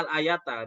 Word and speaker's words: al-ayata: Al-ayah juga kalau ada di dalam kitab, kemudian di belakang nyebutkan ayat, kemudian di belakangnya itu ada al-ayata, seperti itu bacanya al-ayata, dan dia juga maf'ul bih untuk fi'il amr yang terhapus.